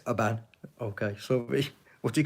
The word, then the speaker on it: Oban: You don't say Oban, it's Oban.